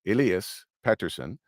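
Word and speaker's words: Elias Pettersson: but I remember when Elias Patterson which is how you pronounce pronounce it Elias Patterson um that's how the Swedish way would be to do it but I remember when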